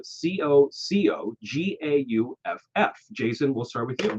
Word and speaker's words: Coco Gauff: Her name is spelled Cocogauff.